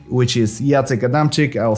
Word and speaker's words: Jacek Adamczyk: find my channel under my name which is yata kadamchik i'll spell it for you right here also you can